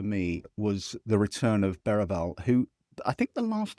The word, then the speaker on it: Berahino: Yeah, I mean I I I I think um Berahino I like the way we're now pronouncing it correctly, aren't we? Thanks to Julie. Berahino Yeah.